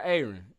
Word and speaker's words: Aaron: Is it Aaron or Aaron? You know, I'm from the country. We pronounce it Aaron.